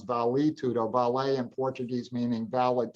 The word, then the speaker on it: Vale Tudo: blending on the Brazilian term of Vale Tudo, which most Americans pronounce Vale Tudo.